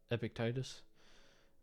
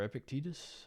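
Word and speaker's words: Epictetus: selected writing of uh epic Titus uh or epicus I think epic tetus is how you say his name um but yeah I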